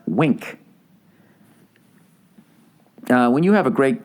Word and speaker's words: Winc: __ ] point wink winc for some reason pronounced wink when you have a